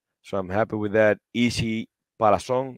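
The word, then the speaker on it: Isi Palazón: Easy Palazón is how you pronounce that.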